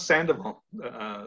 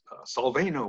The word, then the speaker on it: Sandoval: And they couldn't pronounce Sandoval. So some guy said, Salvano. What is that, Salvano? And so called me, say, hey, Salvano.